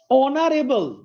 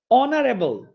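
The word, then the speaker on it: honourable: অনারেবল, অনারেবল, হ আসে নাই, তার মানে এন।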